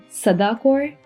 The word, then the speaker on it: Sada Kaur: So, it's supposed to be pronounced Sada Kaur, and I have been pronouncing it wrong throughout this whole video.